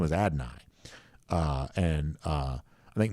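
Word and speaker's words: Adonai: his first name is adenai uh and uh I think most of us at adane at least for a long time but I believe the correct pronunciation was adenai um Paul Moon says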